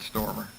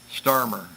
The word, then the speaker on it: Starmer: Kind of pushed him up a little bit, got the lead, but look at Stormer. Starmer. I got to start pronouncing that A. Starmer.